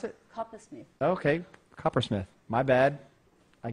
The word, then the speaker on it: Coppersmith: How do you pronounce it? Coppersmith.